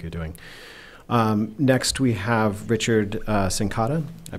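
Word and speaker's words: Richard Cincotta: Next, we have Richard Sincotta. I pronounced that right, right?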